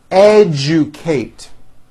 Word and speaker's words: educate: digest Rejoice objective Majesty educate that has also an unusual pronunciation let me break it down for you educate educate next one suggestion this